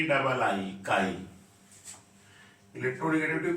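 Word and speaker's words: χ: के डबल आई, काई। इलेक्ट्रोनिगेटिविटी को किससे रिप्रेजेंट करते हैं? के डबल आई से, काई जिसको बोलते हैं, डिनोटेड बाई, या प्रोनाउंस जो कह सकते हैं एज काई, इससे ऐसे दिया है के डबल आई।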